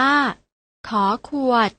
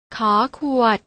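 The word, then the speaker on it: ฃ ขวด: ข ไข พยัญชนะ ตัว ที่ 2 อ่าน ว่า ข ขวด น้อง ๆ อ่าน ออก เสียง ตาม นะ คะ ข ไข่ ข ขวด ฟัง ออก แล้ว นะ คะ ว่า ออก เสียง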